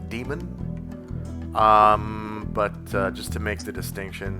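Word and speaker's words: daemon: So, um this is demon spelled with an ae instead of an e. So, I'm pretty sure it's still pronounced demon.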